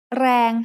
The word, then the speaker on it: แรง: แรง has a low-class consonant and a live ending, so it is pronounced mid-tone.